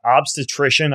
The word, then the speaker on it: obstetrician: And you're also, you're a board certified how do you pronounce that? Obstetrician.